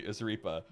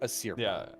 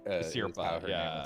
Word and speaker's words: Asirpa: main characters that don't kill anyone is obviously Asaripa, but I don't think Shiraishi has killed anyone. Sorry, I'm gonna mispronounce all these names, but yeah, Shiraishi is correct. Asirpa, Asirpa, there we go.